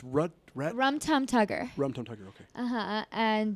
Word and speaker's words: Rum Tum Tugger: Now, how do you pronounce the other cat's name? It's Rum Tum Tugger.